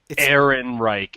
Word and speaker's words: Ehrenreich: Aaron Reich.